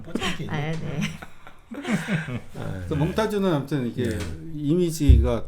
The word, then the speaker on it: 포템킨: 러시아 발음 뽀잼킨.